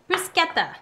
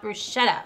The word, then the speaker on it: bruschetta: Bruschetta would be the Italian pronunciation, not bruschetta.